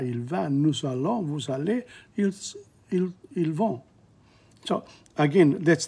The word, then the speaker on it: allez: The Z is not pronounced. How are you? Je vais, tu vas, il va, nous allons, vous allez, ils vont.